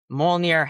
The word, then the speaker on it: Mjolnir: Yeah, this is Mjolnir Hammer of Thor, which I'm horribly mispronouncing. It's Mjolnir, 3 and yeah.